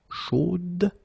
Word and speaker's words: chaude: So here you pronounce the final D, whereas in the masculine form you don't pronounce it.